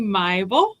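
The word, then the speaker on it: Maibl: So, it's actually myel. It's an M A I B L.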